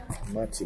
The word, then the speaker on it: Mätti: M burger MTI MTI I asked how you pronounce it she said Matti mty Burger you guys examining the burger all